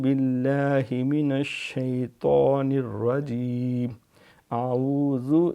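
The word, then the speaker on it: أعوذ: الہ غیرک۔ پھر تعوذ، اعوذ باللہ من الشیطان الرجیم، اعوذ یہ زال ہے، زال پہ سیٹی نہیں مانی، اعوذ نہیں کرنا، اعوذ عین بھی اہتمام سے پڑھنی ہے، اعوذ باللہ من الشیطان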